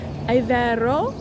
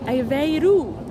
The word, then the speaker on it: Aveiro: And she corrected my pronunciation from Aveiro to Aveiro. So, Aveiro. So that was our day trip that we took last week.